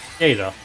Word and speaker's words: Scheder: Oh yeah, apparently it's pronounced Scheder.